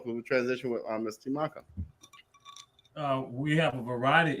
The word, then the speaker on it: Temakha: The proper pronunciation is Temakha.